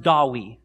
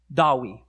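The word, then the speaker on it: Dewi: they've embraced and so in welsh in the welsh language the name david today is pronounced dawi dawi but in this story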